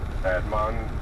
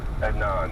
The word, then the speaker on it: Adnan: was afraid of uh Admon I guess is how you say his name i don't know anan adnan that's it josh says Jay actually